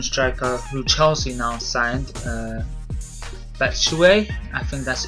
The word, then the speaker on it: Batshuayi: The Belgian striker who Chelsea now signed, Batshuayi, I think that's how you pronounce it.